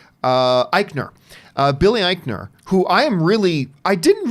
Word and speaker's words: Eichner: who I love, and Billy, how do you pronounce his name? Eichner.